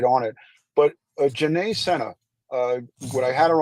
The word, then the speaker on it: Sena: are very very important she pronounces her last name Senna not Cena just so you know